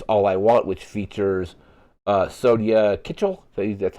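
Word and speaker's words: Sonya Kitchell: Track 12 is All I Want, which features Sonia Kitchell. So that's how that name is pronounced.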